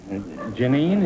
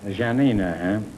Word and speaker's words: Janina: that's hi Oh Cho Janine is that the way you pronounce it yeah II know Janina huh are you related to mr.